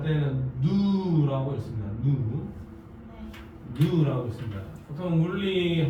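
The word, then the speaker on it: ν: 저쪽에 어디 여백에 적혀 있을 수도 있는데 에너지는 누 V 약간 고물팅하게 적고 이거는 발음할 때는 누라고 있습니다.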